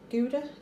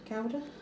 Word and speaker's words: Gouda: do like the awesome crackers i've got some gouda gowda or if you want to pronounce it they are 91 calories of slice